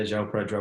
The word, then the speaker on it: João Pedro: if you're aware, but with a player called João Pedro. Is that how you pronounce his name? His first name? Yeah, João Pedro.